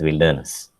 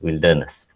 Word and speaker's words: wilderness: i l d e e is pronounced as wilderness indian pronunciation difference and though the root word is